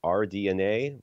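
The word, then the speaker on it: RDNA: at 3.8 gigahertz AMD our DNA is that that's just how they say it yeah ok I know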